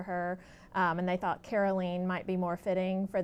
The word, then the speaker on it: Caroleene: never seen it before people want to call her Caroline probably did all of her life but it's really carolene and uh tell our